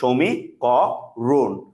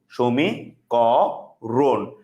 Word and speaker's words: সমীকরণ: এটা হচ্ছে সমীকরণের কি উচ্চারণ, এটা হচ্ছে কি স্যার আপনাদের সমীকরণের উচ্চারণ, সমীকরণ, সমীকরণ।